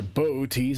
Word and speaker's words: Boötes: It is in a constellation called Boötes, or Boötes, I've heard it pronounced that way.